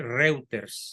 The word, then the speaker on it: Reuters: de la agencia reuters se escribe reuters se pronuncia reuters el periodista Alessandro Bianchi